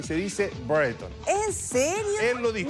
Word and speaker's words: Brereton: Es que sabes que Priscila se dice Brereton. Así se dice.